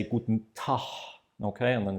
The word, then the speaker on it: Tag: At the end of the word, when we have a consonant, we actually pronounce it harder. We pronounce it like the hard variation of it. So instead of a G, we say a K.